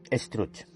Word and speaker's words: Struch: España, con el conde Struch. El conde Struch, pronunciado como Struc, fue, según una leyenda catalana, un noble catalán del siglo XII llamado Guifred.